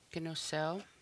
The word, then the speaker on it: kinusel: Kinusel, kinusel. And the final is the W sound at the end.